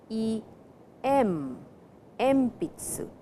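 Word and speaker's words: えんぴつ: But when you pronounce it it is e mitsu. So before p the sound n changes to m.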